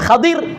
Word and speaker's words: ஹதிர்: மூஸா அலைஹிஸலாம் ஹதிர் அலைஹிஸ்ஸலாம் ஹதிர் சரியான பெயர் உச்சரிப்பு ஹதிர் என்னங்கற புழக்கத்தில இருக்குது.